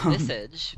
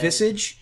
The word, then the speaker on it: Visage: I always pronounce it Visage. But Visage? Visage?